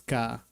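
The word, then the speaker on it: 果: I don't remember if it's on or kun, the rating, but it's pronounced as ka.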